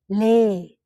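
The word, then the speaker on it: လေး: We say it lay.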